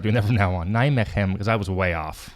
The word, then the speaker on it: Nijmegen: I have the way to pronounce that. Here we go. Hold on, is it going to work here? Yeah. Nijmegen, Netherlands.